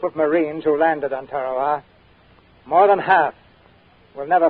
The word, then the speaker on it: Tarawa: and gentlemen to the tiny island in the mid-pacific called tarawa that pronunciation incidentally is from the national geographic society that island will never